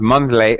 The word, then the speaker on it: monthly: to point it out you mispronounced monthly monthly you you didn't say the th but then you said